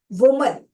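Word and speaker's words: women: वुमन, तो वुमन में MAN आ रहा है ना, तो हम क्या करेंगे, उसको MEN कर देंगे।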